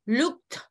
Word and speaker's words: looked: So, looked, es con una T, es más fuerte.